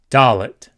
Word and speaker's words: Dalet: Dalet. Dalet is the D sound. D, as in dog.